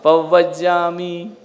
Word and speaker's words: पवज्जामि: पवज्जामि नहीं, पव बा और आधा बा पूरा है, शुद्ध उच्चारण। पवज्जामि है ना, सव सब नहीं।